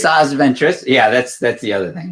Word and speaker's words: Asajj Ventress: got a Star Wars Insider number 159 featuring Asajj Ventress, right? And Sure. We'll take a look at least. No, I saw the character. I Okay. think that's the right pronunciation. Asajj Ventress.